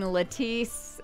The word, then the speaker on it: Latisse: It looks like lettuce, but I'm saying Latisse.